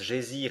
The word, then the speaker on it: geyser: hauteur de dixoises le geyser mot que les Islandais prononcent gésir et qui signifie fureur